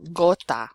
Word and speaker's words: gota: G plus a consonant, it will be pronounced G. So for example, gota, which is like a drop, like a raindrop. Gato, cat. Gusto, mucho gusto. Or gracias, okay? The g, the hard g sound.